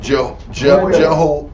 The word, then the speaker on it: Jehoiada: How would you pronounce that? Jehoiada.